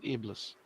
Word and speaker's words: Iblis: Oh, there's Count Iblis. They call him Iblis? I thought it was Count Ibli, but whatever. It is. The S is silent.